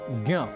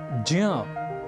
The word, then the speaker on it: ज्ञ: हैं तो इसी तरह ज और ञ के उच्चारण को ध्यान में रखें तो ज्ञ अर्थात ज्ञान ऐसा ना कहकर ज्ञ का प्रयोग हमें परंपरा या अधिक प्राप्त होता है सार रूप में ज्ञ इस संयुक्ताक्षर के उच्चारण में कुछ पारस्परिक और पारंपरिक भिन्नता एं देखने को मिलती हैं और कई बार